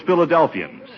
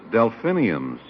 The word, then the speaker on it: delphiniums: And I've always wanted to grow some of those Philadelphians. Philadelphians. Well, that's funny. I pronounce it delphiniums.